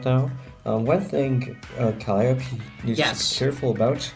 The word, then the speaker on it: Calliope: I keep forgetting Calliope's name is pronounced Calliope.